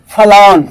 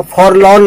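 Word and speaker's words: forlorn: तो फलॉन correct sound है, फॉरलॉन मत पढ़ देना, फलॉन।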